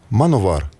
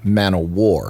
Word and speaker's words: Manowar: We call this we call this band Manovar." Is it okay? Of course. Maybe we should tell them this is not correct. Well, in Germany, people do pronounce it that way because they pronounce W, you know.